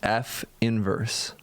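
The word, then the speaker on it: f⁻¹: and we call that inverse F inverse this pronounced F inverse and by the way that's not a negative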